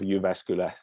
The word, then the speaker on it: Jyväskylä: Well, we usually say University of Jyväskylä, so apologies for a difficult name.